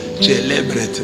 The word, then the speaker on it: célébret: C'est comme ça qu'un prêtre prononce célébret.